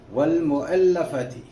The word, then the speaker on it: والمؤلفۃ: چلیے ایک بار ہجے کر لیتے ہیں. واو زبر لام ول، میم پیش مو، حمزہ زبر لام ال، لام زبر لا، فا زبر فا، تا زیر تی. والمؤلفۃ.